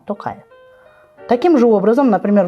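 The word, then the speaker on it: Тоқаев: таким же образом например Касым жар такаев мы говорим русскоязычные так говорят а надо говорить камар токаев Таким же образом например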